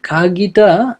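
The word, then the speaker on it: 鍵: এই খাগিটা জাপানিজরা লেখে হচ্ছে খাগি। বাট বলে হচ্ছে খাগি।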